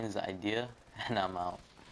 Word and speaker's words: Eyedea: think about it and also my name is idea some people mispronounce my name in quite a lot some people call me iodide some people call me ID or some weird